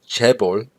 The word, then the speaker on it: chaebol: This term here in Korean, you pronounce it chaebol, right?